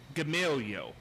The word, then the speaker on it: Gamaliel: Gamaliel. Isn't that a hard word to say? That's President Warren Harding's name. Now, can you say Gamaliel, Martha? I say Gamalia.